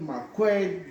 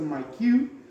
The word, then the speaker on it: Maquet: We'll show a Maquet, others call it Maquet based on the pronunciation, Yes. but it's okay. This is a Maquet.